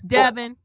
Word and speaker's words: Devon: used to print they used to pronounce it Devin because I watched I watched uh a lot of their um you know their home shows so it is Devin uh-huh I'm refurbishing castles